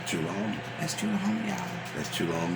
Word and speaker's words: Chulahoma: Can you spell it? CHULAHOMA. That do it right. Chulahoma.